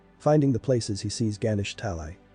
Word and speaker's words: Ganesh Talai: Finding the places, he sees Ganesh Talai. Pronouncing the name of the place, he figures out that they were the same names, but he was pronouncing it wrong all of this time as Ganestali.